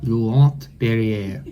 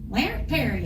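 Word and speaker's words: Laurent-Perrier: Laurent Perrier. Very good. Larry Perry. Kara makes fun of me for the way that I say the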